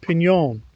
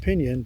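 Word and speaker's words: piñon: It's really pronounced pon. Uh, but you know, a lot of people just pronounce it pinion because they don't use the correct pronunciation where I live.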